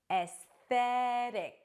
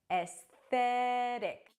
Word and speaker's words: aesthetic: If you're saying it in American pronunciation, the T becomes a flap T. Aesthetic, aesthetic.